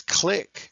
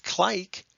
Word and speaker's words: click: There's a brev because it's click, not clike.